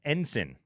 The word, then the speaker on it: ensign: It's actually pronounced ensign. Really? Ensign. Yes. That's not how it's spelled.